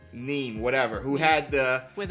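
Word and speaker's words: Niamh: Nim or something? The one who was... I think it's pronounced Neve. Neem, whatever.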